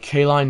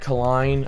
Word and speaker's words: Kaline: sketch off of Al Kaline? And it's I will like put like a star and be like Kaline not Kine.